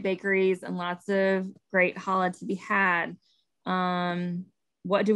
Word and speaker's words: challah: to find a really delicious," I'm gonna not pronounce this correctly, challah.